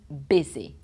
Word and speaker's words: busy: Busy, even though it's a U, it's busy.